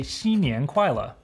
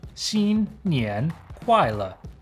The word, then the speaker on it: 新年快乐: If you want to wish your friends Happy New Year's, just say 新年快乐. Or again, 新年快乐.